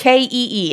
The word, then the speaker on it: Kee: It's Kee. It's a girl's name. But you pronounce it like key, like car keys.